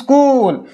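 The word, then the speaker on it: school: ওকে, এইবার এখানে আছে সে has many friends in স্কুল, মানে তার তো এইখানে বলে দিলাম আগেরটাই, সি হ্যাজ মেনি ফ্রেন্ড তার অনেক বন্ধু আছে, কোথায়, ইন স্কুল, স্কুলেতে, কোথায়, স্কুল।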